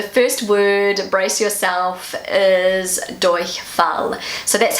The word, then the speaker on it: Durchfall: Okay, so the first word, brace yourself, is Durchfall. So that's how I pronounce it. This is how Google pronounces it for probably more of a native sounding pronunciation. Durchfall.